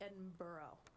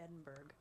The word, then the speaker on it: Edinburgh: i know right and uh and three it's pronounced edinburgh not edinburgh well you know the way it's i actually